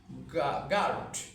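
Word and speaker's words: guard: ঘোড়া রাখার যে যে জায়গা যেখানে রাখা হয় গার্ড আমরা যদি আরো উচ্চারণ করি গার্ড যদি আরো উচ্চারণটা আমরা বাদ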